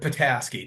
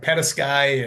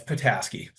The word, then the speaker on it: Petasky: sir yeah that's right pataski people usually go like pety and I'm Ukrainian background so people call me um but it's patasi you know when people